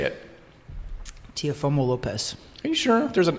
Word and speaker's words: Teofimo Lopez: I'm like, shoot, I butchered that. Well, you say it. Teofimo Lopez.